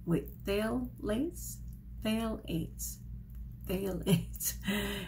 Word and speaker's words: phthalates: fail lace fail eights phthalates it's t-h-a-l and it's a um short a so it's thale and then ate like